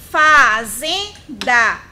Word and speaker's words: fazenda: E para encerrar, fazenda. 3 sílabas. É uma trissílaba. Fazenda. Fazenda. Olha o zen aí sendo a sílaba mais prolongada.